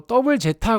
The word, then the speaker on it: ZZ: 알파벳 Z 2개 써서 ZZ 건담으로 표기하고 읽을 때는 또 더블 제타 건담이라고 읽어야 돼요.